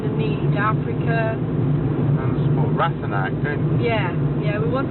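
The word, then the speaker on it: Ratanak: How do you pronounce that, Simon? Ratstone? Which one of our local... Ratanac.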